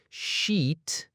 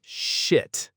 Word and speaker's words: sheet: of confusion, and that's sheet versus shit. Oh, this is another one where that vowel length just makes all the difference, isn't it? Like a huge difference.